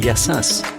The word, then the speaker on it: Γεια σας: Γεια σας. Hello. Γεια σας. Ah, you say yasas, not yasu, which you say to a friend.